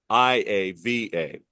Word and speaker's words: Maiava: Pronounced differently? Jaden Maivia, Maiava, not Maivia.